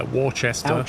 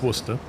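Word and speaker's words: Worcester: that educational yeahia that's how it's that's how it's spelled m yeah to Chester is it your silver yeah War Chester is Worster yeah uher yeah B is a good one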